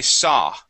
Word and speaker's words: saw: remember that the uh the W does not make a uh does not make a sound okay so we we wouldn't pronounce a uh a an an ow sound so we say saw saw please repeat that good